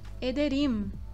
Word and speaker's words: ederim: Então, ederim, ederim, juntando os lábios. Teşekkür ederim. Essa é a pronúncia do M no turco, juntando os lábios.